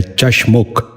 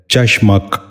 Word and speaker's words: چشمک: غور سے سنیے، چھچورا۔ نواں لفظ ہے چشمک۔ یہ غلط تلفظ ہے، درست تلفظ ہے چشمک۔ دوبارہ سنیے، چشمک۔ بچوں